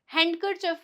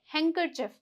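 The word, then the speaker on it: handkerchief: हैंकरचिफ। हैंकरचिफ, कई लोग इसे हैंडकरचिफ बोलते हैं, जो कि गलत होता है। यहाँ पे डी क्या है? साइलेंट है। हैंकरचिफ।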